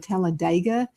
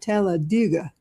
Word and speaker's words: Talladega: Now, when everybody's there, you can pronounce it exactly like you said, Talladega. But now the people who live there say Talladega. You know, like in the ditch.